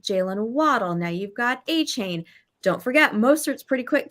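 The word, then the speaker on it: Achane: So I'm going to say his name right, finally. Devon A-Chain, guys.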